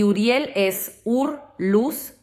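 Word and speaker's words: אוּרִיאֵל: Y también un nombre que me parece hermoso es Uriel, que en hebreo lo pronunciamos de una forma muy parecida, Uriel. Y Uriel es ur luz y li mía.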